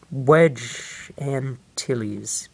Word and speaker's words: Wedge Antilles: And Wedge Antilles. Yeah, that's how you pronounce it.